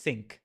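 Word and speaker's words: Cinq: Oh, it's Oh, it's French. It's pronounced sink.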